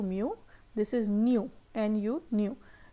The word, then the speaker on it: mu: First one was mu, pronounce कर रहे थे mu, mu.